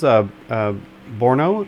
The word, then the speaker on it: Brno: This is Brno, I think is the way you pronounce it.